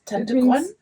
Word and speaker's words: Tante: Tantr is it pronounced correctly like that? Yes. Tantr Auntie Green.